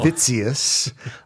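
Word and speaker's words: Witsius: introduction to Hermon Vitus spelled with a W I think it's pronounced with a V but Hermon somebody's gonna let us know fitus uh he wrote a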